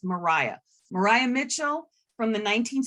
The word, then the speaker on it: Maria: always get Mariah Mitchell Mariah and it is pronounced Mariah Mariah Mitchell from the 19th century she was